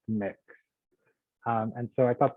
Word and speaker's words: Mx: because so they're using it's MX and it's pronounced mix um and so I